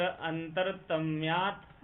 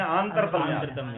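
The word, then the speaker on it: आन्तरतम्य: तत्र अंतरतम्यात्, अंतरतम्य आंतरतम्य, हाँ शुद्ध उच्चारण करिए।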